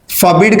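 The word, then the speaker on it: forbid: मना करने वाले हैं फॉबड का मतलब मना करना होता है आर साइलेंट है यहां भी ध्यान रखिएगा फॉबड मतलब कोई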